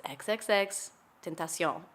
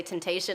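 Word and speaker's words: XXXTentacion: name so that you don't ever say his name wrong. That's and I was fair. like, okay. And he said, it's XXX Tentacion. And I was like, oh, okay. Got it. And so anytime somebody would say temptation, I would be like, That's when people pronounce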